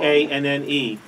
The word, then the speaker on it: Shyanne: It's not Now, how he pronounces things wrong. Shyanne.